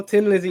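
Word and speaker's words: Thin Lizzy: else no no no Tin Lizzy that's how you pronounce it big tick Dublin accent um so now I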